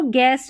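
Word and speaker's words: guess: Guitar, तो यहाँ पर जो गैस में U आ रहा है, गेस्ट में U आ रहा है, गाइड में U आ रहा है और गिटार में U आ रहा है, ये साइलेंट है, इसको नहीं पढ़ा गया है।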